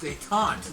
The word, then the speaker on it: détente: Pronounced détente. Détente, okay. Yeah, that's what I'm not figuring out.